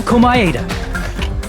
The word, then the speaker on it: Komaeda: The person who actually arranged this incident was the victim, Nagito Komaeda. That's how you pronounce his last name.